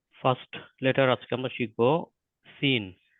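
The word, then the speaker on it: سين: letter আজকে আমরা শিখবো সিন সিন উচ্চারিত হবে জীবের টিপটা নিচের দাঁতের পিছনে টাচ করবে সিন সিন তার পরবর্তী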